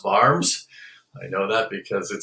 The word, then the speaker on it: Worms: and they spell it spelled worms but it's pronounced barms i know that because it says it here